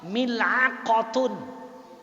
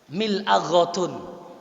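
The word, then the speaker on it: ملعقة: Orang Saudi kira-kira gimana bacanya? Mil'aghatun. Mil'aghah. Kalau Mesir mil'a'ah.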